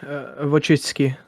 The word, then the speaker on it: Wojcicki: Polish guy, unmute yourself and pronounce her last name for us. Wojcinski. Wojcicki.